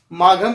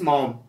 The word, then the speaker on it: Maugham: माघम कुछ लोग पढ़ते हैं, माघम स्पेलिंग लर्न करने के स्टाइल से हो सकता है, लेकिन रियल इसका जो ट्रू प्रोनाउंसिएशन है वो WS मॉम. आप स्पेलिंग याद करने के तरीके से माघम बोल सकते हैं एज यू विश.